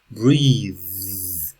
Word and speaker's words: breathe: one that let that breathe we okay so it's nice here because we have the noun breath the verb breathe breathe within breathe out okay good oh